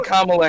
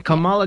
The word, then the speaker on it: Kamala: No, That's literally Kamala Harris.